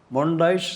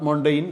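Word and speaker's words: Montaigne: The pronunciation is mondash, not mondaine, mondash.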